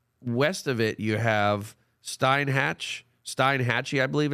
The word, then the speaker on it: Steinhatchee: Steinhatchee. Oh, it's Steinhatchee. Yeah, okay. So I want to make sure that again pronunciation.